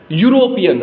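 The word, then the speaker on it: European: लेकिन यूरोपियन जब हम बोल रहे हैं वर्ड, इसका प्रोनाउंसिएशन कर रहे हैं, तो यहाँ पे इस EU का साउंड जो आ रहा है वो आ रहा है य। यूरोपियन, हम क्या बोल रहे हैं?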